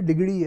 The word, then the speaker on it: ڈگڑی: اور ایک جو دلچسپ ریلوے اسٹیشن ہے وہ ڈگڑی کا ہے، جسے ہم نے انگریزی میں ڈگری بنا دیا ہے، لیکن اصل تلفظ سندھی میں ڈگڑی ہے.